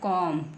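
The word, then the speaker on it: comb: सी ओ एम बी तो क्या बन गया कॉम क्या बन गया कम सीओ एम केवल हमने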